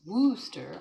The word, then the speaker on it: Worcester: Just south of me is pronounced Worcester. I feel it has 3 syllables plus the shire.